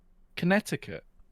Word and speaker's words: Connecticut: No, it's not how you pronounce it, is it? That's not, is it? It's Connecticut.